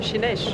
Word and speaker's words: Sines: Chinèche. Chinèche. Bien prononcé, José. Chinèche. Ah, comment José, tu dis c'est prononcé, non? Prononce bien Chinèche, José.